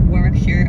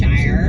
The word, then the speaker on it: Warwickshire: He emailed in to offer a correction on our Warwickshire Murder You Wrote episode. I Okay. do love the corrections. Did Ian pronounce something wrong?